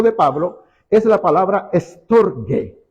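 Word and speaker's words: στοργή: Un profesor me dijo que en griego la G era como de Gabriel, entonces digo estorge. Y estorge, aunque no aparezca la letra U para nosotros ahí entre medio para pronunciar G, ¿ya?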